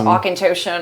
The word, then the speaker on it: Auchentoshan: they can't pronounce Auchentoshan or Lagavulin or Glenfarclas.